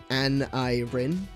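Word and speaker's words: Aneirin: Um uh and it is of course pronounced Anirin.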